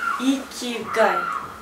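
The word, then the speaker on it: 生きがい: Мы это называем йокагай, а на самом деле это называется... Поработаем над произношением. Да, икигай. Икигай.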